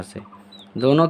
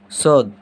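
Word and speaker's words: ص: सौद। और इसका भी उच्चारण क्या होता है? सौ।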